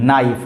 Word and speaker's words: knife: KNIFE नाइफ, नाइफ का मतलब चाकू। यहाँ पे के साइलेंट होता है, कभी भी अगर एन से पहले के आता है तो वो के साइलेंट होता है।